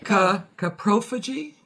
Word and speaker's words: coprophagy: Coprophagy. But it's C-O. Yeah. K-E-H is the way the dictionary. Oh, okay. Coprophagy.